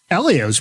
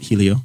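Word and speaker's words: Hélio: he can do it Elio's probably close to Tony's age too they're right around they grew up racing go-karts against each other we've all agreed on uh common pronunciation of elio not Helio just uh 45 years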